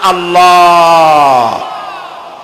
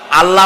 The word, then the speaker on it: আল্লাহ: আল্লাহর নাম আল্লাহ, বলেন তো। আল্লাহ নয় কিন্তু, আল্লাহ হচ্ছে অশুদ্ধ, শুদ্ধ হচ্ছে আল্লাহ। বলার সময় মুখটা গোল হয়ে যাবে।